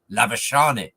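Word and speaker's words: Labuschagne: Australia didn't produce Manus labain who's known in South Africa I believe as Manus lavash did I get the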